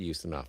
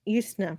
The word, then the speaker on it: Ustinov: Oh, Yeah, I think it's pronounced Ustinov, yes. Ustinov.